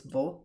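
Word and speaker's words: वह: pronounced as ye, and vaha and ve are still both pronounced as vo, and that can be confusing when I'm talking about them.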